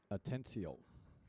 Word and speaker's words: Atencio: How do you pronounce Jesus's last name? Atencio.